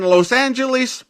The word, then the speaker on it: Los Angeles: radio announcers and journalists they agreed to the angelized version Los Angeles there you go that's the history of it and when Los Angeles became Los Angeles also